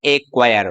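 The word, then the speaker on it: acquire: Next है दूसरा, when C comes before Q, अर्थात जो सी है वो क्यू से पहले आए तो हमारा सी क्या होगा, साइलेंट होगा, इसको हम बोलेंगे नहीं। जैसे यहाँ पर है एक्वायर।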